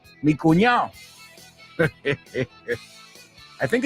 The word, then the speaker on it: cuñado: The same thing with the D in cuñado. Are you sure there's a D in there? Because I've never heard anyone pronounce it. Mi cuñado.